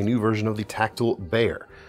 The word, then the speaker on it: Bexar: We've got a new version of the Tactile Bear, pronounced or spelled Bexar.